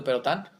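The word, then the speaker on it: Pérotin: E lean los trabajos de Perotán, se escribe perotín. P E R O T I N.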